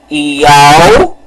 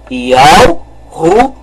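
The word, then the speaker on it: יהושע: Então vamos pronunciar o nome. Yahushua. Vamos novamente pronunciar. Yahushua. Este é o nome correto.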